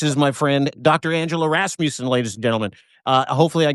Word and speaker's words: Rasmussen: It's Rasmussen, but that's okay, Dean. Rasmussen. Everybody pronounces it wrong constantly, so it's all good. I suck. It's all right. The only people who pronounce it right are people who are also Scandinavian or from Minnesota.